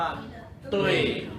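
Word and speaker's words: 对: ฮะ คำ ที่ 3 อ่าน ว่า ตุ้ย ตุ้ย ตุ้ย ตุ้ย แปล ว่า ถูก ต้อง ถูก ต้อง ตุย ถูก ต้อง มั้ย ก็ ไม่ ใช่ ตุ๋ย ถูก ต้อง มั้ย พูด ว่า อะไร นะ ตุ้ ตุ้ย มา ถูก ต้อง ก็ พูด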